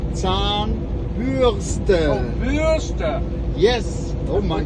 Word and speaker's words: Zahnbürste: You have to say Zahnbürste. Oh, Bürste. Yes. Oh my Put the God. R in the wrong place. I didn't know. Like a germ, huh? Zahnbürste.